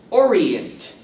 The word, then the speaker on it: Orient: word of this chapter is Orient again three syllables Orient and here are the